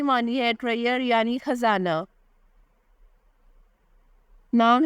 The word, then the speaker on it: MINHA: Is Ayra, spelling है AYRA। Ayra नाम की मानी है रिस्पेक्टेबल यानी काबिले इज़्ज़त।